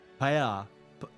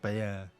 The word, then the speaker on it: paella: Paella is a dish from paella is a dish from Spain. I'm saying it wrong, by the way. It's like paella, something like that.